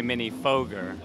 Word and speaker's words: Minifooger: going to do is ask seral how he pronounces the names of the products well I I would have to say mini foger okay yeah so so we were right then